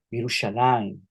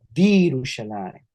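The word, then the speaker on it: בירושלים: Es una vocal larga, entonces sería vi, ru, shalaim, virushalayim, virushalayim, virushalayim.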